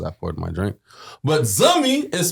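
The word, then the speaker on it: zanmi: So, if you ever hear the word zummy, that again, that's Z A N M I. Know that we are calling you a friend. So, Zani Zi, don't protect, don't pronounce the N.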